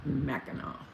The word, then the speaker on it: Mackinac: that funny that it's spelt like that with a c but it's pronounced like a w i don't understand oh